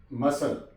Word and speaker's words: muscle: For example, crescent, crescent, यहां पे सी silent आ गया। मसल, MUSCLE, ये मैंने आपको बताया था कि एस